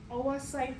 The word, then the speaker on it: oocyte: All right, so a little bit about, I'm switching to this term oocyte. So this term here, OO, it has a, you say it like OA, oocyte production.